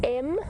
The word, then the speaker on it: Mvula: It is M-V-U-L-A, Mvula, and it means rain.